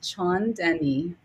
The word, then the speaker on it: Chaandani: It's pronounced Chandenni. Chandenni.